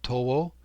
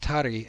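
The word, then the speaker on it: たり: is usually, in Norito, 10 is usually pronounced to or towo, right, for 10, uh, but it's pronounced tari in this chant.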